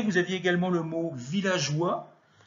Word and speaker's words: villageois: Vous aviez également le mot villageois. Il ne fallait pas oublier le E, parce que sinon on prononce villagois. G plus O, ça donne GE.